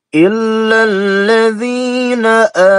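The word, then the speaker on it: إِلَّا الَّذِينَ: lam syamsiyah, ya, illal, jadi dibacanya jangan illa, ya, tapi harus ditasydidkan dengan lam atau alif lam syamsiyah. Illalladzina, alif lam menghadapi lam, ya, illalladzina.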